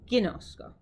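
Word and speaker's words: γινώσκω: But when we say it here for koine, we're going to say ginosko.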